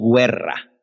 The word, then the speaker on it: guerra: le ponemos la decimos qué guerra pero no pronunciamos la verdad la desaparición nos la tragamos no decimos guerra decimos guerra la uv desaparece eso es en